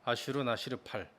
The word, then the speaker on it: 아슈르나시르팔: 그래서 좀 더 고대 세계로 가면은 이 신단수가 아시리아 왕 아슈르나시르팔, 내가 좋아하는 왕인데 아슈르나시르팔, 그 뒤에 시르팔 하니까 좀 발음이 좀 이상한데 좀 살짝 하시면 됩니다. 아슈르나시르팔.